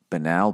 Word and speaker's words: banal: Pronunciation. Here we B-A-N-A-L. Hello, Banal Bill.